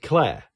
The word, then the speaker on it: Clare: And Clare, which is the smallest town in Suffolk and rhymes with chair.